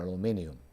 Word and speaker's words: aluminium: does wet aluminum or aluminium. So how do you say in India, aluminium or aluminum? Aluminium. Yeah. So it's only Americans who say aluminum.